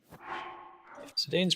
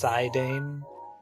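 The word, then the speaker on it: Zidane: Not spelled with the U anyway. Sedane's pretty great.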